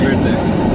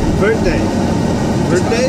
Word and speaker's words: verde: You have to be able to roll your R to say it.